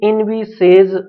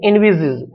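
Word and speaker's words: envisages: अब देखिए इनविसेज, इसका प्रोनाउंसिएशन नहीं है, इनविजिज, इनविजिज का मतलब होता है विचार करना, ठीक है।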